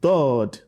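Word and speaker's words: ض: Okay, from there you get the best pronunciation of sword and dod. Now pronounce it dod. Dod. Dod. Dod. Dod. Dod. So you must differentiate between dod and dal.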